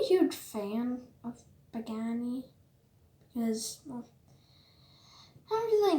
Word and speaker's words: Pagani: A lot of the people I teach what this car is can't pronounce it, or sometimes just call it Bugatti.